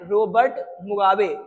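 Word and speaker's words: Robert Mugabe: एंड it's leader बहुत important है, रोबर्ट मुगाबे, रोबर्ट मुगाबे, ठीक है, इसका प्रोनाउंसिएशन थोड़ा डिफरेंस है, क्या है, रोबर्ट मुगाबे, ये जो है लीडर था किनका, जानू पीएफ का।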